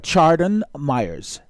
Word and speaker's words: Chardon Myers: I'm hoping I'm pronouncing his name right. Chardon Myers.